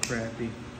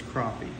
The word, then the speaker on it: crappie: would call him crappy Grandpa would call him crappy everybody I knew called him crappy and they